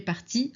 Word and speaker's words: partie: Si tu parles à Marie, tu dis tu es parti à la fin E. On ne prononce pas, hein.